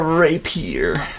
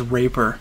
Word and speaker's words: rapier: His little rapier. Rapier. Rapier. I pronounced that as raper for like the longest time. Why? I wasn't up on my French.